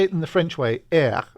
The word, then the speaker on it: aires: Or do I say ears? You can say airs, Air. given where you're from. You say what you like. So an air is a park up.